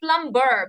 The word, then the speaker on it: plumber: Don't say plumber, be silent in this, and it is pronounced as plumber.